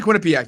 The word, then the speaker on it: Quinnipiac: pitch against Quinnie pack oh no it's definitely Quinnipiac III was about to say I said it was Quinnipiac last time and you keep saying it's definitely Quinnipiac you're right like now that I'm looking at